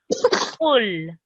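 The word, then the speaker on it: قل: And the qaf letter comes from right at the bottom of your throat. And you say with a rounded mouth, qul.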